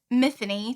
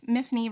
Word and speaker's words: Myfanwy: mine so our protagonist miffany Thomas which miffany rhymes with my name Tiffany um miffany Thomas wakes